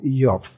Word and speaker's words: Iyov: Entonces, iniciamos con este libro de Job, conocido popularmente como Job, y que en hebreo se pronuncia o se escribe como Iov, que es la pronunciación que vamos a utilizar en este estudio.